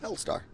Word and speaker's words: Helstar: What is it right pronounce? Helstar. Helstar. Yeah, because you're writing your name with one L.